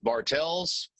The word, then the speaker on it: Bartles: Steve Bartles, although his name is pronounced Bartels.